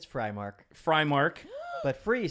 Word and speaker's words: Freimark: I say Frymark, but honestly, I grew up saying Freemark. When I was stationed in the military, I got stationed in Germany, and it's a German name. And I tried pronouncing it as Freemark over there, and the Germans were like, "We're not having it."